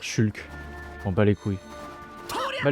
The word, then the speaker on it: Shulk: Tu es qui entre Ricky et Shoke ? Tu sais quoi ? On va arrêter de dire shoke. On va dire Shulk.